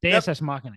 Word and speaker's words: Deus Ex Machina: Deus Ex Machina. Yeah, that's how you say it.